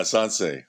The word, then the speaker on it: Sansei: Yeah, sansei.